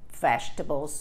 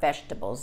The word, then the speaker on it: vegetables: So, children don't usually like vegetables very much. Cuidado con la pronunciación de la palabra vegetables, ¿ah? Vegetables. La es silencioso. Vegetables.